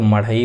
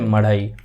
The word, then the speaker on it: मढ़ई: यहाँ पे छत्तीसगढ़ में मदई, यानी कि अगर हिंदी में इसको प्रोनाउंसिएशन करें तो मढ़ई बोलते हैं, ठीक है, मढ़ई।